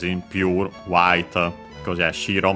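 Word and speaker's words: 白: Here we can keep it pure, as in pure, white, because yeah, shiro means white, on its own accented on the first syllable.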